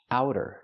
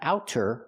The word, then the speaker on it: outer: So the pronunciation use the sound like how and now. Ow. Outer. It's a fast t outer. Not outer but outer in American pronunciation.